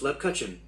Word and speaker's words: Lebkuchen: b k u c h e n that's pronounced lab cutchen lip kitchen according to google a spiced biscuit